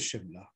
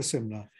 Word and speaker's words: Shimla: on the consonants so the s is pronounced as shir so in hindi it was always shimla it was never similar so while in hindi